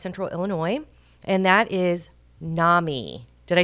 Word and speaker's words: NAMI: Illinois and that is Nami did I say it right you said it right okay because I had a question I was like do we even say is it Nami Nam but it's Nami which is the National